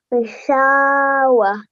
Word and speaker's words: غشاوة: that when we're pausing, this will become a ha sakin. Okay? So when Okay. we're pausing, this would be read as Ghishawa. Ushawa. Excellent. Ghishawa. غشاوة Wah. وه Yeah, slight h sound at the end, okay?